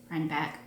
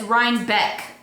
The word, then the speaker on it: Rhinebeck: was the rhyme back right back i always want to say it like that it's ryan beck with an e not an a but that's really pretty